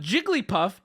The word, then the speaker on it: Jigglypuff: it was four yes Jigglypuff can be said with four syllables but Jigglypuff in her happiest most natural state pronounces it with three here's my Olive Branch